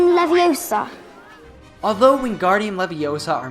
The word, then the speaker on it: Leviosa: saying when guardium leviosa you should not pronounce leviosa with an open ah sound at the end but rather with a schwa sound so instead of saying leviosa you should say leviosa this is really useful